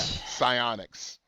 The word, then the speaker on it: psionics: Yeah, psionics. Psionics. Yeah. No, the P is silent. Remember that.